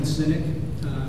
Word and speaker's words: Sinek: And this comes from a guy named Simon Sinek, who is not a cynic. It's not spelled like C-Y-N-I-C. It's S-I-N-E-K.